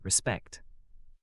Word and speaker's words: respect: Respect. TN. Respect here is pronounced as respect in Korean too.